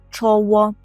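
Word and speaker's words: czoło: читається як ж тваш чоло дуже подібно до української чово чово чово і теж губний звук повинен тут прозвучати чово так не чоло як українською а чово око і відразу кажіть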